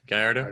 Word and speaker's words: Gallardo: I mean, I jumped in the F430, the LFA, the Lamb, the Gallardo. Is that how you say it? Yeah, Gallardo.